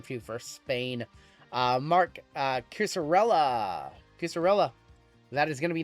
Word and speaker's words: Cucurella: Mark Cusarella. That is going to be numbered 89 of 94. Spain is Andres M in this one. Cucurella.